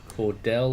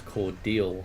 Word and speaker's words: Cordell: but we are waiting at Cordell or I think it's cordal actually I just heard someone on one of their radios call it cordal so if I've been pronouncing it wrong the whole time then that's uh yeah